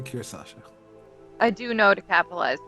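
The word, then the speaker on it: Kirsasha: the country of Solaria Oh kirasa I thought it was Kira Sasha can you spell it one more time capital k i r s a s ha literally cir Sasha I do know to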